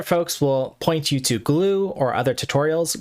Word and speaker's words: GLEW: Some other folks will point you to glue or other tutorials. Glue is spelled GLEW, all lowercase, but I like using glad here.